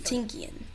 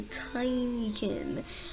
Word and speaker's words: Tinykin: see all the things you'll do with the tinkerine i mean the tiny kid oh i've been pronouncing it wrong the entire time it's not tinky and it's the tiny kin so i was right that time i said